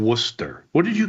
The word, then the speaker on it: Worcester: You can't You can't pronounce the the city name Worcester.